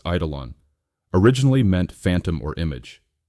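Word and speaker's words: εἴδωλον: The Greek word eidolon, pronounced eidolon, originally meant phantom or image.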